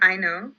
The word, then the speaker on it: Aino: So Ekata is kind of a child, and her motherly figure, Aino, am I pronouncing that right? I call her Aino.